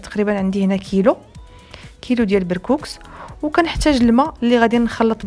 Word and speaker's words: بركوكس: اكله امازيغيه او سوسيه 100% اللي هو بركوكس او لا بركوكش، يعني كل واحد حنا كنطقوها بالسين ماشي بالشين، كاليتي نطقها بالشين يعني بركوكش.